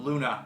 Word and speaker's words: Gluna: Shonen Jump, Ginka and Luna. Not Ginka and Gluna, the G is silent.